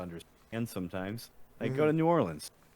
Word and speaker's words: New Orleans: don't say new orleans they don't say new orleans like you're supposed to they say nalin yeah nah yeah and like it's one word two syllables and it's not supposed